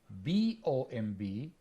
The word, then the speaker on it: bomb: how to say it I always mention the three words t-o-m-b b-o-m-b and c-o-m-b the first one is Tomb the second one is bomb and the third one